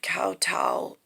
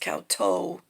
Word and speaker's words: kowtow: whatever um this morning i did kowtow i wrote it look it could be pronounced cow toe t-o-w but if the w moves over it looks like wing but i i meant it to be kowtow even though tau normally is spelled t-a-u um and then there's